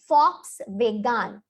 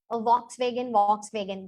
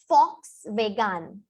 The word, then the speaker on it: Volkswagen: So let me tell you, it is not Volkswagen, it is Volkswagen. Volkswagen. Why so? Because V is for German people, and it is not vegan, it is wagon, because A is A for us.